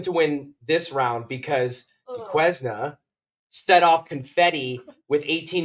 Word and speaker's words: Duquesne: Yeah, to Duquesne. I don't even know how we got on the fact that I think it's Duquesne. It's Duquesne.